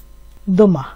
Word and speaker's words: demain: আর এখানে আছে আগামীকাল, আগামীকালকে ফরাসিতে বলে দোমা, এখানে আছে দ। আর এখানে আছে এম আন, এর উচ্চারণ হয় একটা জফলা দিয়ে আকার দিলে যেমন হয়, হ্যাঁ এই টাইপের, দ মা, চন্দ্রবিন্দু যুক্ত করে যেহেতু এন